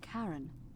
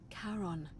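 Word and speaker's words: Charon: it's just as you described it only your pronunciation is a little off the name you heard wasn't Karen it was c h a r o n as in Kon the F of the Dead I literally figured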